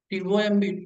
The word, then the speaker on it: tomb: Whenever you find the letter MB, the letters MB at the end of any English word, the B must be silent letter. WOMB, womb. TOMB, tomb.